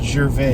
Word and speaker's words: Jarvis: I think it's pronounced Gervais. Gervais. You know, if you're very proper like I am, that's how you say it.